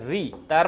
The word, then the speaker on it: ঋতু: রুলসটা বোঝার চেষ্টা করো সংস্কৃত ভাষার স্বরধ্বনির মতো ঋ এর উচ্চারণ বাংলা ভাষায় নেই বাংলায় এর উচ্চারণ পরিষ্কার ঋ তার মানে তার মানে এই যে রয় রশ্মি ঋকারের উচ্চারণটা লেখার সময় রয় রশ্মি লিখতে হবে রয় রশ্মি লিখতে হবে ঋতু ঋতু কার কার বেস্ট ফ্রেন্ড